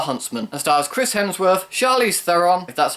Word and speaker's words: Charlize Theron: white and the huntsman a star's Chris Hemsworth charlize theron that's how you pronounce her name Emily Blunt and Jessica Chastain